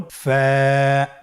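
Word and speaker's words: فاء: ফা হরফটি উচ্চারণের ক্ষেত্রে বারিক হবে এবং এক আলিফ টেনে পড়তে হবে। আপনারা আমার সাথে আবার বলুন। ফা।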